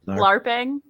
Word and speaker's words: LARPing: Yes, LARPing.